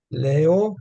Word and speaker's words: leo: will be the usual short E le Leo because it's an e next to the O Leo Leo and uh the E is going to get a little bit harder punch than that second syllable actually it's all one